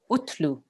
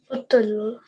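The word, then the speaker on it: اُتْلُ: So we will pronounce this like this. Utlu. Utlu. Utlu. Utlu. Okay, so we don't want to jerk on the ta. It's very soft. Utlu. Utlu. Make sure you don't jerk there.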